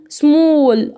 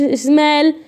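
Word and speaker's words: small: طيب حرف الايه يا شباب لو بعده ال بنطقه زي الاو برضو. زي هنا هول كده اهي زي زي الاو. خلاص هول قاع او صاله او كده. طيب سمول اهو بنطقها او. ليه ما قلتش سمال؟ ما قلتش سمال، ما قلتش هال ايه يا باشا؟ احنا واخدين والله قاعده الدكتوره قالت لنا ان الايه بعدها ال تنطق او، فانا هاجي اقراها اقول هول.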